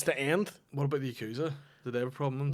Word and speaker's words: Yakuza: the correct pronunciation of the Yakuza. Okay. It's Yakuza. Oh, right, okay. Yakuza? Yakuza. You have to say it with a Japanese accent there.